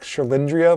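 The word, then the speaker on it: Cherlindrea: called her up but it's like schlindria like andrea but then you know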